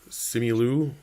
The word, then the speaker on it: Simu: Simu, the star of Shang-Chi.